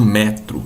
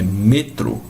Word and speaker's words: metro: Perceba que eu não falo metro, é metro, certo? Porque é me. Então, ele tem sempre som de E, não é?